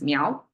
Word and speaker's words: 猫: so I guess these meow it's pronounced as meow uh depicts the new